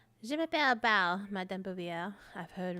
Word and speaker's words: m'appelle: Maybe it's the way she seemed to think m'appelle rhymes with my apple. Sit down, Patty. Yes, Madame Bouvier. Right. Je m'appelle Bao, Madame Bouvier.